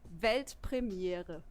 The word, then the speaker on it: Weltpremiere: It's actually Weltpremiere. Weltpremiere. Pretty similar, yeah, right?